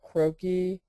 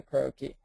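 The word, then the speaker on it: croquis: you know Google the word croaky that's spelled c r o qu i s or fashion croaky um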